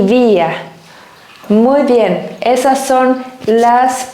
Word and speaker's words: vía: último de Last One el último es via a con acento en la i vía bien a ante bajo